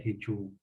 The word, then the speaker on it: Xichú: de la sierra de xichú dicho se escribe con x quiénes son los leones